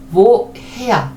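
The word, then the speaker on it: woher: 왜냐면은 우와 했으면 좋겠는데 그렇게 발음되지 않고 모음 다음에 하가 나왔음에도 불구하고 요 하가 묵음이 되질 않고 뭐 해야 이렇게 되는 겁니다.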